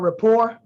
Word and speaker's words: rapport: everybody definitely write down rapport um uh r-a-p-p-o-r-t like i used to spell it r-a-p-p-o-r-e how it sounds and when i looked